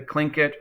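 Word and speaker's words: Tlingit: of what's called the clink it if you look in the text it's typed uh spelled um t-l-i-n-g-i-t that is pronounced clink-it here are just some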